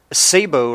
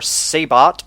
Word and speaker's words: sabot: out the MBT with the Sabo round or sabot or Sabo however you uh feel comfortable pronouncing it but the the Sabo